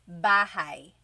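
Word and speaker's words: bahay: You might notice that the spelling is a y at the end. So it looks like bahi, but it's pronounced bahi. That a y combination is bahi.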